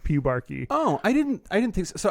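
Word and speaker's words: pubarche: It is pronounced pubarchy. Clearly, as everyone knows, this common word. I don't know why everyone was treating it like it was so obvious that it's pronounced pubarchy.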